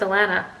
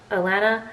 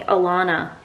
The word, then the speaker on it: Alana: my name is Alana Alana l n Lan banana Alana but for whatever reason all Americans call me Alana like a front lawn like as if my name is spelled l a w n Alana and that's the